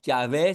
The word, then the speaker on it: Jehová: Ah, la voz de Jehová es la voz del Espíritu. Y eso vemos varias veces en el Antiguo Testamento. Dice el Antiguo Testamento, Jehová o Yahé si prefiere pronunciarlo así, dijo tal y tal cosa.